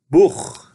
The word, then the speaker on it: Buch: CH se prononce ich après les voyelles A, O, U und Au. Exemple, Buch, livre.